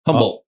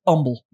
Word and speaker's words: Humble: Humboldt. Nope. It is Humble. Oh, Humboldt. with a U. Humble, Texas. It's a quiet H.